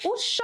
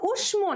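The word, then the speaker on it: উষ্ম: ব্যঞ্জন গেল এরপরে হচ্ছে উষ্ ব্যঞ্জন এন্ উষম না এটার উচ্চারণ কিন্তু উষ ঠিক আছে যেসব ব্যঞ্জন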